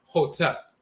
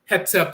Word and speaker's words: Hotep: In the Coptic dialect, that's spelled Hotep. People often hear the term Hotep, but Hetep or Hotep, dialectal variants of the same term and so forth.